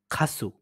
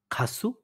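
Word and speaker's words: 가수: ২য় টা হচ্ছে খাসু, গায়ক, খাসু, গায়ক।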